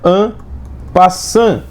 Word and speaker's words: en passant: O nome disso, pessoal, é en passant. Estou escrevendo aqui agora, tá, gente? No lugar de peão, estou escrevendo en passant. Poxa, mas está escrevendo EN, passante, espaço passante, com T mudo no final.